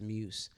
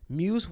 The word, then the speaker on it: Muse: loose moose loose MUSC I think it's pronounced as muse Muse Watson though that brother is